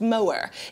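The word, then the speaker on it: Moher: as the cliffs of I think it's pronounced mower in Ireland is one of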